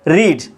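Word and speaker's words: read: नॉट रीड पढ़ना मतलब रीड तो यहां पे क्या आ जाएगा रीड का third form रेड spelling same रहता है बोलने के वक्त में हम इसको रेड पढ़ते हैं तो वी हैड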